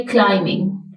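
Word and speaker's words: climbing: पहाड़ चढ़ रहा है क्लाइमिंग का बी साइलेंट है ये है क्लाइमिंग इसमें बी की साउंड नहीं आएगी तो यहां पर हमने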